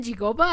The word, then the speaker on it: Psigopa: marca específica los chocolates chigopa o chigopa se escribe psigopa pero los personajes lo pronuncian gigoba Así que asumo que así se pronuncian asumo que esa marca